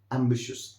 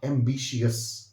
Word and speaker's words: ambitious: जैसे कि आप देख सकते हैं यहाँ पर मैंने साउंड बनाई है, this word has टू be pronounced like ambitious, not ambitious.